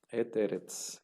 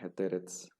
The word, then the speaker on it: et eretz: Entonces eretz, et eretz. Y se tiene que leer todo como una sola palabra, et eretz, acentuando aquí esta sílaba donde está el acento.